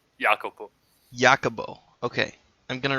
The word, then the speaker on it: Jacopo: pronounce your name yeah it's a jacopo basically like jacob in english the italian name is giacomo but uh my name is the florentine variant jacopo jacobo okay i'm going